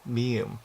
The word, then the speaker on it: 미음: The symbol 미음 shares the same beginning sound as meat, followed by the sound. Here you put the emphasis on the e. 미음, 미음.